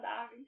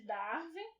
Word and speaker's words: Darwin: Charles Darwin, né? Que as pessoas falam, mas eu acho que a pronúncia nem deve ser assim, deve ser Charles Darwin. Mas vamos falar Darwin, que é como todo mundo fala aqui.